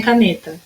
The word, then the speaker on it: caneta: Agora vamos chamar a palavrinha caneta. Caneta é o nê.